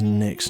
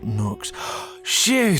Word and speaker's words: Nyx: Uh, by the way, my name is Nyx, pronounced as Nyx, not Noox.